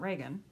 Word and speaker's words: Regan: I tell her too, time and time again, I had a coach when I was in junior high, a volleyball coach, and she pronounced her name Regan. And then we had President Reagan. So it's Reagan.